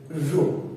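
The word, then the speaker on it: ρ: Resistivity मतलब रो, pronounce करते हैं हम लोग RHO जैसे रो, ठीक है?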